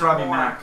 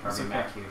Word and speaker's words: Robbie Mac: I think it's just Robbie Mac. You don't pronounce the Q. Oh, sorry. Robbie Mac Q.